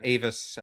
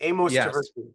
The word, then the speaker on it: Amos Tversky: And if people aren't familiar with the book or his work, when he and his cohort Avis, am I mispronouncing Amos Tversky, Amos Tversky, yeah.